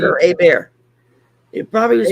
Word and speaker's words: Hebert: Yeah, Yeah, but no, it's HEBERT. There's no yeah. So that's R. Abear down. Yeah, most Ebai. places that would be pronounced Hebert. Down Yeah. here, it would be pronounced Abear.